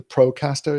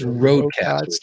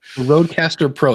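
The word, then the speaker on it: RØDECaster Pro: The Procaster, is it? No, it's Rodecaster. Rodecaster. Rodecaster Pro. It took me a while to It's like you just take Row, Pro, and Cast and mix up a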